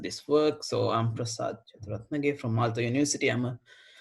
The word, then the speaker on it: Jayathurathnage: I will pronounce it. It's called Jayathurathnage. So it's a very long. Jayathurathnage.